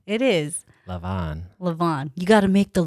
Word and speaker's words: levain: I was pronouncing it leaven. Leaven? Or it's spelled like levain. Oh, okay. I would have pronounced it as a levain, but who knows? He pronounced it as a levain.